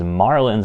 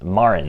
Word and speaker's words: Marin: I've pronounced these as Marlins in the past they are just the um Marlins Marin is how they're pronounced there's no l in there so I know I